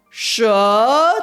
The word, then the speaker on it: 什: 为什么的母语者发音会把原本 2 声的舌发得很像 3 声？因为这样说话会比较轻松，这是另一种发音的变化。但是舌的声调应该是 2 声，所以正